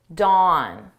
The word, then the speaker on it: dawn: Now, listen to me Dawn. Down. There are very similar because they both have open mouth positions.